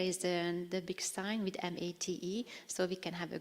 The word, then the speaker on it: MATE: You might pronounce it MATE or MATE or whatever it suits your language, but in Hungarian we refer to it to MATE.